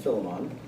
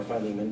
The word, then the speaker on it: Philemon: Ephesians, Colossians, Philippians, and Philemon, or Philemon, depending on how you pronounce it.